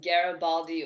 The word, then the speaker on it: Garibaldi: just had the grand opening on halloween in garibaldi oregon is that how you say it yes